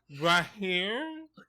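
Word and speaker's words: Recife: that Portugal likes to call PR here yeah ra here I believe it's how it's pronounced yeah that's correct in Brazil yeah John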